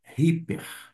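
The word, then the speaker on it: ὑπέρ: Uma vez mais, só chamando atenção que o Y sozinho vai ter um som de i, como tem uma aspiração áspera ou um espírito forte. A pronúncia é ri, como se tivesse um r aqui na frente. Hiper. Hiper.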